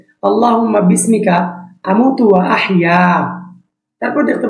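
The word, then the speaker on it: اللهم: এটার সঠিক উচ্চারণ আছে আল্লাহুম্মা আল্লাহ এই লামটা মোটা হবে মিমটা গুন্না হবে বিসমিকাতু আলিফ লম্বা হবে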